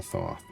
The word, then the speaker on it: Thoth: You know, one time they spelled it as a tooth and the other time they spelled it as a Thoth, but both times they've pronounced it as a Thoth. So, I think it's a double th.